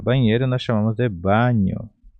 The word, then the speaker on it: baño: Banheiro nós chamamos de baño. Baño, então é banheiro. Baño, baño. A pronúncia seria mais ou menos assim, banho.